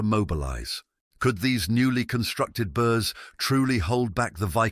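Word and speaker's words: burh: network of fortified towns called burs pronounced burs spread strategically across wessix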